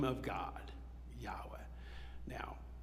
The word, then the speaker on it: Yahweh: like that it is Yahweh it is the the name of God Yahweh now that's the more recent understanding by Scholars of how to pronounce it for centuries we thought you pronounced it Jehovah um and we thought